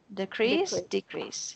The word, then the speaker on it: decrease: One interesting thing is that the S sounds like an S, not a Z. We have have a tendency to say it like a Z, but it's an S sound.